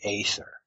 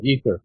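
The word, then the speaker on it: aether: the substance of of space what is the ather if I'm pronouncing that correctly yeah ether ether it's spelled in two different ways e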